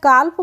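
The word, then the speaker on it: calf: है क्लियर है तो सी एल एफ काफ पढ़ेंगे इसको हम काफ नहीं पढ़ते हैं काफ पढ़ते हैं तो यहां पर भी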